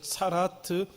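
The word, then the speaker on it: צרעת: 그것을 오늘 다양한 모든 피부병을 차라트라고 발음을 한다는 것입니다. 그리고 우리가 이미 레위기 11장에서 살펴보았던 것처럼 정결한 음식과 부정한 음식을 나누는 그 부분을 살펴보았습니다.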